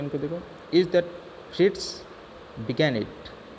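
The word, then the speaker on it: Fritz: फ्रिट्स को कैसे प्रोनाउंस करोगे आप, फ्री और आधा ट और फिर ज, फ्रिट्स, ठीक है।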